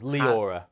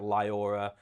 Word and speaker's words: Liaura: It's it's Leora. You say it correctly. Yeah. Leora. Yeah. Leora. Yeah. But people say like Liora. Um, on BBC radio they said Lower or something.